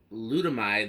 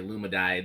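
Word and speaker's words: Ludomide: is a fan from glutamide lighting I've been practicing trying to say their name correctly I keep wanting to say Luma died or some other jumbling of the syllables it is l u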